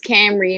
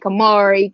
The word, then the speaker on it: Camry: in the chat because my name is camry and people butcher my name like kamari cameron add a whole bunch